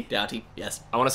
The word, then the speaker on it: Doughty: to say his name michael dofty how do you spell it d-o-u-g-h-t michael oh michael doughty doughty yes i want to